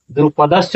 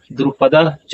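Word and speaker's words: द्रुपदश्च: द्रुपदस च नहीं होगा। जो लिखा हुआ है द्रुपदस च ऐसा उच्चारण नहीं होगा। उच्चारण क्या होगा? द्रुपद च।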